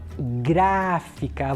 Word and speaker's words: gráfica: a primeira dela gráfica na palavra gráfica Eu tenho um som da vogal a identifica o que a vogal a sílaba mais forte é a sílaba gravar Então gráfica vogal é mais aberta tem um sinal adequado aqui é o acento agudo muito bem a